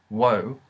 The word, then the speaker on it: を: while pregnant while pronounced while technically pronounced as woe essentially sounds like o in real speech so to write that